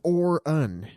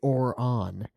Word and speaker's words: Orin: It's pronounced Or-un, but you guys always say Or-on.